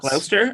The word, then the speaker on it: Gloucester: think it's it's gloucester i think it's cluster okay i think that's how you say it worcestershire yeah we're